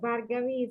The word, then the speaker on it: Bhargavi: Bhargavi, did I pronounce your name correctly? Yeah, it's correct. Bhargavi is a correct pronunciation.